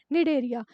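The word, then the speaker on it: Cnidaria: इसे 'C' से लिखा जाता है। 'C' अक्षर साइलेंट है। तो वे कौन से हैं ? निडारिया।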